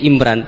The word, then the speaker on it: Imran: Dari sana Bugis Imran, jadi orang sana nggak pakai ro. Kalau orang ro, jadi pakai ra. Kalau ainnya? Ain pakai ain. Berarti apa? Imron gitu. Ya, kalau sana tulisan KTP Imran. Apa bacanya orang-orang Sulawesi?